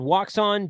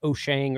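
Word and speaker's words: Wouxun: So there's another company called Woxon, Wouxon. It's actually pronounced Oshang or something like that.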